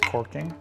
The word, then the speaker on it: caulking: now I'm recaulking Dorothy it's spelled caulking but usually people pronounce it as corking the old English term